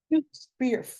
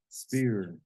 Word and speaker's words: sphere: Spear. Sphere. You don't say spear. The P is silent.